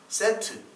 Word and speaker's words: 셋: 아벨은 이제 죽은 다음에 셋이 나오죠. 세트. 이게 이제 이집트의 신도 세트라는 신이 있잖아요. 그거가 똑같은 발음이에요. 셋.